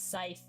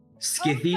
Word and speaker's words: scythe: Where's the, like, one time I crashed out over how Spooks pronounce scythe? Skithy, Oh God, that son of a fucking bitch.